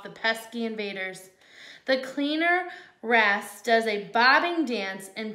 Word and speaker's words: wrasse: Ace? Hopefully I'm saying it right. No, I think it's wrasse.